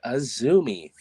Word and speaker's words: AZM: It is that AZM, you fucks. It is Azumi.